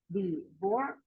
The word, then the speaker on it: divorce: Divorce. Where do you put the stress in this? First syllable, second syllable, or third syllable? Divorce. The second. In the second, yes, very good.